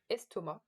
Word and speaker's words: estomac: And in estomac, we even don't pronounce it.